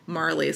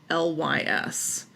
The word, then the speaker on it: Marlys: She's got a character named I don't know how you pronounce her name, Marley. So I think it's Marlys. Okay.